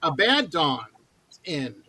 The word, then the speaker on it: Abaddon's End: say the band's name, and I messed the pronunciation up, and then I asked before we started, so I had it right. It's Abaddon's End.